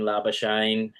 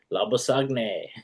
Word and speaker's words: Labuschagne: I don't know why they still call him Labuschagne. Yes, he's South African. Just say his name right, Labuschagne.